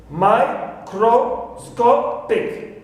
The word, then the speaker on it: microscopic: So I have here microscopic. So sco is the stressed syllable. It takes primary stress. So before it, number 1, cro is not taking secondary stress, and number 2, before the stressed syllable takes the secondary stress. So me is the syllable which takes the secondary stress, and sco is the primary stressed syllable.